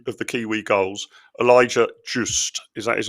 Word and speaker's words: Just: unlike the BBC intern, it's actually pronounced the way an Englishman would pronounce it.